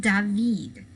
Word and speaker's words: David: last name is spelled like david but it's pronounced david because the french sometimes are a little crazy in the way they pronounce things so this is jacques luis david and this is the oath of the horation